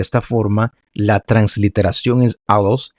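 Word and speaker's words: ἄλλος: Alos en griego se escribe de esta forma, la transliteración es alos, se pronuncia allos, que significa another, otro.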